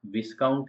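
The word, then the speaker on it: viscount: है वैसे ही है विस्काउंट विस्काउंट के अंदर भी ए साइलेंट है जिसका मतलब होता है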